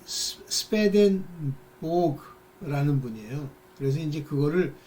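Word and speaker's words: Swedenborg: 유명한, 그러니까 그런 면에서 유명하다는 게 아니라 그분이 이 스웨덴 보그라는 분이에요. 그래서 이제 그거를 스웨덴 발음으로는 스웨덴 보리 이렇게 부른대요. 그렇지만 뭐 이제 그걸 영어식으로 독일어식으로 이렇게 하면 스웨덴 보그 이렇게 부르기도 하고 그런데요.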